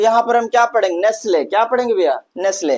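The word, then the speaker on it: Nestlé: नेसले। क्या पढ़ेंगे भैया? नेसले। तो नेस्टल नहीं पढ़ेंगे। क्या पढ़ेंगे? नेसले।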